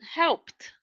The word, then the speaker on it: helped: The next one, helped, ends with P, ED transforms in T, helped, right?